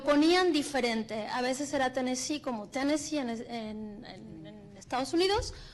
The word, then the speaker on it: Tennessee: Los demás, cuando es New Jersey, Nueva Jersey, Mississippi con acento en la I al final, Tennessee con acento en la I.